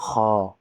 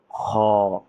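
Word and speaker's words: خ: দেখানো হয়েছে, এটা হলো গলার শেষ ভাগ। তাহলে এটা এখান থেকে উচ্চারণ হবে। তাহলে উচ্চারণ কি হলো? খ।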